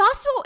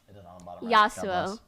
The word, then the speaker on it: Yassuo: say yasu yasu is how you pronounce it without the S what are you going to say yasu yasu like the champion but with two s's instead of one also known as